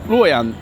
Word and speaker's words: Luoyang: Is Luoyang pronounced Luoyang?